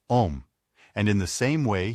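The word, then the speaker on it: homme: a piece of bark he learned from darno that it was pronounced om and in the same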